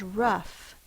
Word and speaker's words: rough: tricky enough laugh tough the next word is rough r f the concrete was very rough r uh is the O U vtin and F spelled with a g h Ruff The Vow sound is uh which is the short u sound rough let sco this